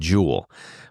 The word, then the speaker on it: Jewel: up right out City we add an S to Jewel so everybody knows jewel is Jewels right so it's just